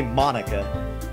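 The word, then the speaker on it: Monika: is the ball huh that's not how you say my name at all also that joke makes no sense in translation ha ha ha ha it doesn't because it you say Monica instead of Monique oh no it's mine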